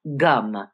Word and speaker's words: Gam: Now you notice it's spelled Gam and it's spelled GanaP. So, but it's gum.